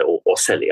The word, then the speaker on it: ocelli: think it's pronounced Australia it's the Italian word so I'd say or silly I don't know o